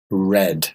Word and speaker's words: read: in the past becomes red read yeah same word same spelling different pronunciation okay spelling the same